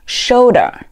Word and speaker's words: shoulder: 好，我们再来往下看，下一个词表示肩膀 shoulder, shoulder, shoulder.